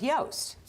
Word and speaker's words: Yost: Mine is a toast, and it's a toast to Ned Yost. Yes, it rhymes.